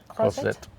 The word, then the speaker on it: Croisette: How do you pronounce it? Croisette.